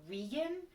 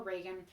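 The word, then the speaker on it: Regan: other characters call her vegan which is like how her name looks like it should be pronounced based on the way it's spelled but i'm gonna call her reagan because that's what her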